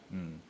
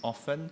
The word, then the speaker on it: often: Yeah, so do you hear two different pronunciations? One is often and the other one is often. Yeah, how many of you pronounce it as often? How many of you pronounce as often? How many of you don't know how to pronounce? So this is not to judge you all and say which is right. Apparently both are okay.